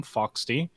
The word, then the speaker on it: Phoxsty: i'm foxy and yes that's how you pronounce my name foxty literally just replace ph but an f like you do in most cases and i am a